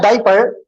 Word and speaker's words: diaper: Okay, we need to know in diaper we have an extra A that happens to be silent.